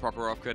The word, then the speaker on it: Prokhorovka: But we're going to Prokhorovka now, and I said it right for the first time, Elfin, which done.